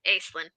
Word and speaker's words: Acelin: way i want and it's pronounced ace so so it's basically